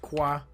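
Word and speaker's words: ק: It's pronounced qua.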